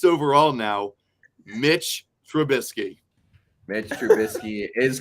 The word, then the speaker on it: Trubisky: Mitch Trubisky is correct.